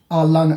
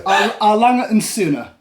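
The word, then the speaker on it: A. Lange & Söhne: Alang, do you know you try and pronounce it the name of this aisle? Any joy? Alan. Yeah, close. It's German. So, Arlang and Suna.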